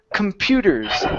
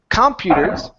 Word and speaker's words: computers: we have the word computers so instead of computers the stress is on Pew computers computers okay good